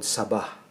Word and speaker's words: saba: the philippines this is called sabah second syllable sabah let's open one of